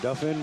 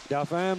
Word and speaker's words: Dauphin: How do you pronounce that? Dauphin, Winnipeg? Dauphin. Dauphin, Manitoba?